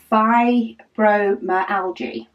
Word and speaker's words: fibromyalgia: Lady Dax, she says, Rebecca, she says it's pronounced fibromyalgia, which I think I have heard it said before.